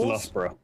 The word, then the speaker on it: Loughborough: This is pronounced Loughborough. God damn it. I forgot that it shouted me out. Dream whores? I don't think I would have pronounced it that way. Yeah, No, with Loughborough. the GH, I probably would have thought. Loughborough. No, I probably would have left it silent, like a Loughborough.